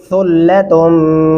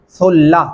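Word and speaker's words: ثلة: सुल्ला सा को नरमी से अदा करेंगे। यहाँ पे बहुत सारे लोगों को मैंने देखा है कि वो गलती करते हैं, सुल्ला तुम मिनल अव्वलीन पढ़ते हैं, जो कि गलत है।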